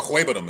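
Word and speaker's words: Okwuegbunam: These guys out there trying to pronounce that. Alberto Ahuebanum is how you say it.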